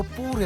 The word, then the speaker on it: Paris: पेरिस नहीं, पेरी।